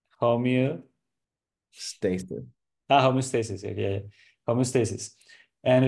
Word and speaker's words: homeostasis: And I think that that one punch, being able to accept just being in homeostasis, just Mm-hmm.